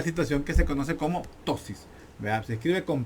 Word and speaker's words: ptosis: se conoce como una ptosis, que se escribe con P, P-T-O-S, ptosis.